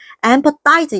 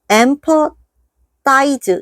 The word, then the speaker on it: empathize: empathize. 여기를 thize로 발음해야 돼. 자, empathize 이렇게 발음해야 돼요. 요거는 그쵸? 이거는 emphasize. 이건 size. 파. 얘는 떠. 발음이 다른 거야.